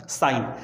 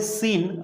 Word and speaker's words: sine: तो जैसे हमारे पास है पहला साइन, तो ध्यान में रखो कि साइन की पूरी स्पेलिंग है हमारे पास SINE, इसलिए इसका प्रोनाउंसिएशन होता है साइन, लेकिन लिखते समय बच्चों हम 3 लेटर का इस्तेमाल करेंगे, SIN, साइन। ठीक है, लेकिन इसलिए क्योंकि 3 लेटर है तो आप इसे सीन ऐसा नहीं पढ़ेंगे, उसको पढ़ेंगे क्या आप, साइन।